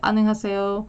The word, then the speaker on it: 안녕하세요: But yeah, it's 안녕 하세요 instead of ho. But it's just like one phrase. And the emphasis is only on the first syllable, 안녕하세요, like that.